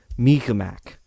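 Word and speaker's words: Mi'kmaq: out of five and i believe the pronunciation is closer to me mac and it's very hard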